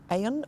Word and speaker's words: Avon: the river Avon or it's spelled I should say the river Avon AV o n but it's pronounced Aon or something like that um and apparently that's